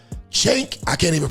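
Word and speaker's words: Cenk: Now, if you don't know who that is, that is a man named Chank. C E N K. Chank. I can't even pronounce his last name.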